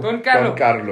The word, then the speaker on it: Don Carlo: Don Carlo. But you have to roll your R.